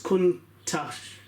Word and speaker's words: Countach: So the word Countach, pronounced as Countach, okay, is an exclamation of the astonishment in local Piedmontese language.